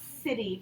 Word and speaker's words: city: City, very good. Because it has a soft C sound like Cindy.